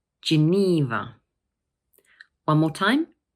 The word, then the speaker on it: Geneva: Geneva. Notice that the middle syllable is a long E sound. So we say Geneva. One more time. Geneva.